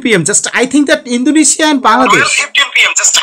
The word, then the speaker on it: Indonesia: I am asking you how many syllables are there? How many syllables? Four parts we can see. In do ne shia.